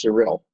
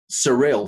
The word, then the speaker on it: Sarill: okay by the way my name is pronounced cyril cyril thank you thank you of course it does it actually is the way it's actually written is the way it should be pronounced surreal thank you for that